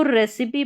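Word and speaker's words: recipe: लेकिन कुछ गिने-चुने शब्दों में इ का उच्चारण इ होता है। जैसे कि यहां पर देखें। यहां पर है उच्चारण दे रखा है। यहां पर इसको फिनाली पढ़ रहे हैं। यहां पर इ का उच्चारण देखिए हो रहा है। इसको रेसिपी पढ़ रहे हैं।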